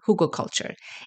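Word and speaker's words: Hugelkultur: want you to pay attention to is called Huga culture it's spelled h u g e l k u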